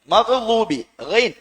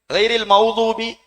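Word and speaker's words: مغضوب: என்கிற சத்தம் எங்களுக்கு வரணும் அதே மாதிரி அலைஹிம் வலீன் மகுதூபின் ஆனா இந்த உச்சரிப்பை நாங்க கவனிக்கிறில் மௌதூபி மௌதூபி என்று ஓதுனோம் என்றால் சூரத்துல் பாத்திஹாவை எவ்வளவு அப்ப அந்த அளவுக்கு தஜ்வீது உடைய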